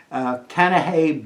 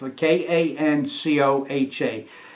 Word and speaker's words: Kaneohe: This is the Marine Air Station in Kaneohe Bay. I'll spell that because my pronunciation may be off. Kancoha.